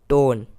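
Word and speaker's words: tone: इससे अगला वर्ड है टी ओ एन ई, यानी लास्ट में ई आ रहा है, लास्ट में ई आ रहा है तो हम ई को साइलेंट रखेंगे, और इसी वर्ड का सेकंड लेटर यानी ओ को हम ओ ही पढ़ेंगे। तो ये हो जाएगा टोन।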